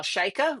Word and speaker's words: Chayka: a little bit about Kyle shika rhymes with Micah's book filter World which